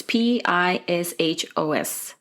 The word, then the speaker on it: Pichos: the medical examiner's office, Nick Pichos. I think that's how you pronounce it. I'm sorry if it's incorrect. It's Pishos.